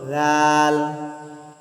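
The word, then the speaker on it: ذال: উচ্চারণ করেছিলাম, উপরে সা, জিহ্বার আগা উপরের দাঁতের আগার সাথে লাগিয়ে এরকম একটু আমরা সায়ের মতো জিহ্বার আগাটি উপরের দাঁতের সাথে লাগাই, দাঁতের আগার সাথে, তাহলেই আমরা একটু উচ্চারণ করতে পারবো। সেটি হলো রাল, রাল, রাল, রাল, রাল।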